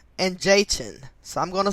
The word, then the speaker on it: Jachin: they are the two pillars of boaz and jayton so i'm gonna spell those just in case i mispronounced them but um these temples are in the bible b-o-a-z and j-a-c-h-i-n boaz and jachin which were once found at